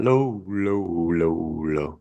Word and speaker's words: Lowe: So is that some of you pronounce low, some of you pronounce low? Which one's that? Brandon is Lau. Yeah, Josh is Josh and Nate are low. Brandon Lau.